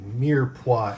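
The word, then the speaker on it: mirepoix: are going to start with what's called a mirp m i r e p o i x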